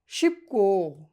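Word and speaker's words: 싶고: শিবকো শিবদা দা বাদ দিয়া গো বলবেন, শিবকো উচ্চারণ শিবকো চেমিসয় মানে সহজ এবং কি আনন্দ আছে।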